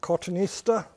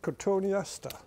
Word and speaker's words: cotoneaster: very easy to grow cotoneaster is easy americans pronounce it cottonista i'm afraid we pronounce it cortoniasta slightly different these by the way grow very